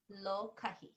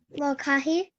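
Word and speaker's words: lōkahi: Lokahi. That's hard to pronounce. Say lokahi. Lokahi.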